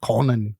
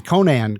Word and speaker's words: Conan: when you read it conan or like the way arnold schwarzenegger says it conan conan but you know we would sort of say conan conan but i like